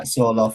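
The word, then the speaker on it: Sørloth: when his Norwegian teammate Alexander Sorloth, I think that's how, Sorloth, is that how you pronounce it? Yeah, Sorloth, yeah. Yeah, chose to shoot alone rather than square to him.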